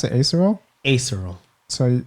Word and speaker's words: aserual: So you can follow Jaleel at, how do you pronounce it? Acerol? Acerol.